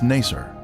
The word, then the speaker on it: Naser: is the uzengili village its former name in the 19th century was Naser this pronunciation is similar to nicer a village that the